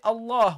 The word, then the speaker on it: Allah: And Allah, when we start with this, we say Allah. We pronounce the hamza, But here, because it came in the middle of the speech, Hamzat al-Wasl, we drop it, okay?